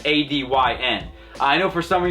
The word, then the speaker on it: ADYN: So, it's a dyn. I know for some of you it's going to like take a little bit longer than just saying Aiden, but uh that is how you correctly pronounce it.